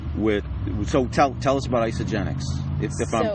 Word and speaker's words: Isagenix: So tell us about Isagenix, if I'm pronouncing it correctly. Yep, Isagenix is a health and wellness company.